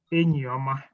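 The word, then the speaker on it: Enyioma: And then make sure you don't pronounce it the English way. You say Enyi Oma.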